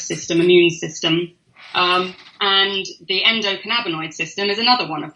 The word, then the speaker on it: endocannabinoid: Endocannabinoid. Endocannabinoid.